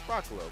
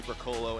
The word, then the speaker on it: Broccolo: It's Broccolo. Marty Bash used to say Broccolo, and that wasn't how you say it.